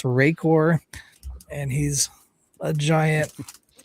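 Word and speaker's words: Rakor: I'm gonna spell it. It's R A K O R just in case you got any ideas, Bill. It's Rayor.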